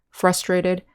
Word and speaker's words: frustrate: on the second syllable with the verb adjectives in adverb the syllable stress is on the first syllable frustrate frustrating frustrated and frustratingly